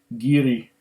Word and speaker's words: Garioch: you should know firstly the whiskey and the valley from which it takes its name are pronounced giri as in chiri in the ancient doric dialect still spoken in these